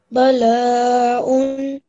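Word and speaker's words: بلاء: But can I just say, this sounded just a tiny bit like a ayn. It's a hamza, so it sounds kind of like a alif. It's very light.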